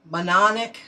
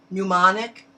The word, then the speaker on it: mnemonic: or secret secret phrase or mononic i'm not saying it right mnemonic code you're responsible there's